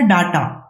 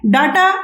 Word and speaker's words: data: Topic है वो है डाटा। ठीक है, डाटा या डेटा भी प्रोनाउंसिएट किया जाता है, एक्चुअली में होता तो डेटा ही है लेकिन आम चल के भाषा में हम लोग डाटा बोलते हैं।